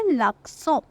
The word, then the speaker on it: l'accent: इसकी pronunciation French में होती है l'accent, l'accent, राइट।